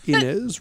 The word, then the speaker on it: Inez: Inez, rhymes with Guinness.